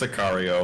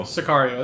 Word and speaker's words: Sicario: good oh he says it's pronounced sicario sicario there you go that's how it's pronounced anything else that was